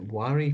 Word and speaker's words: Wari: fact a nod to the Wari people or Vari people, is how you pronounce it, spelled Wari, also known as the